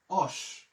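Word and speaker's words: Hoche: কারণ আমরা এই আশের উচ্চারণ কিন্তু করি না। অস এই যে মনে করেন এই পাঁচ নাম্বার মেট্রো এখানে যায়। প্রত্যেকদিন মহিলা চিল্লাইয়া চিল্লাইয়া বলে অস অস অস আপনি আমি মেট্রো থেকে বের হয়ে বলি ভাই আমি তো হুসে আছি তো এই মহিলার হুসকে যাওয়া উচিত তো আমি বলা তো এটা কিন্তু হুশ না এটা অস একটু দয়া করে বলবেন অস এই জায়গাগুলো যদি আপনি বলেন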